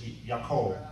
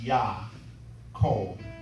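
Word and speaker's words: יָכֹל: In Hebrew, the word pronounced is yakol. The spelling is pronounced Yah, Kol.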